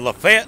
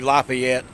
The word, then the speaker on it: Lafayette: we're down here in lafete Alabama and I know that's not the proper way to say it you're supposed to be Lafayette but most people here in Alabama just called it then we didn't even